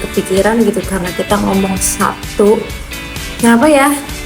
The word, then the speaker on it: Sabtu: Kalau misalnya Sabtu itu kan sebenarnya tulisannya S A B T U gitu ya. Tapi kenapa kita tuh soal bacanya kayaknya P Sabtu gitu ya, bukan Sabtu ya enggak sih?